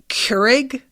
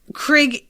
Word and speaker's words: Krieg: keep wanting to call Krieg Keurig, like the coffee maker. I just keep doing it in my head and having to like correct myself.